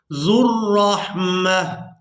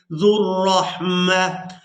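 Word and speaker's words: ذو الرحمة: अब यहाँ पर अक्सर लोग वाव को अदा करने की कोशिश करते हैं। यहाँ पर जो आप लोग वाव देख रहे हैं ये वाव साइलेंट ही रहेगी, इसको अदा नहीं करेंगे।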